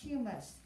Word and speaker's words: humus: Humus, that is pronounced humus, the decayed material in soil, like leaves or even dead animals, right?